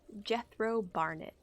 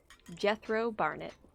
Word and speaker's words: Jethro Barnett: Jethro Barnett. Barnett spelled Barn, E-T-T-E. Say his name one more time. Jethro Barnett. Ah, like almost sounds like death row.